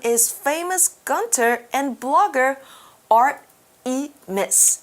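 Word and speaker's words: Art3mis: Yes, we could say Artemis because she's got that 3 backwards like an E. So we should say Artemis? Artemis is probably how you say it out loud.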